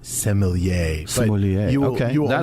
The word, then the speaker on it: sommelier: different from different people I say samal yeah is that good enough yeah it works it works technically I think that the French steward pronunciation is sommelier sounds fancy you'll never hear me